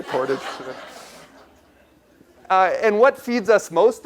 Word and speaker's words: Portage: I learned that's the correct way to say Portage.